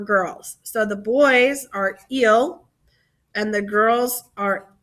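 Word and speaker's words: ils: group one for girls so the boys are ill and the girls are l so let's talk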